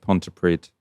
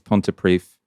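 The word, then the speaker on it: Pontypridd: We both messed up there, Ash, because we both said pontiprid. It's pontiprief.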